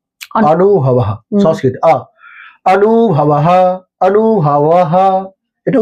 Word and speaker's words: অনুভব: মানে আমার নাম ধরুন অনুভবাহ সংস্কৃত আনুভাহ আনুভাহ এটা উচ্চারণ আনুভা অনেকে আ এর মত শোনায় আবার হিন্দিতে। কিন্তু আমরা কি বলি? অনুভব অটাকে ও এর মত করে উচ্চারণ।